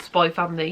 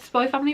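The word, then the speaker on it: Spy × Family: learned is just called Spy Family. You don't pronounce the X in the middle. So yeah, I read Spy Family Volume 1.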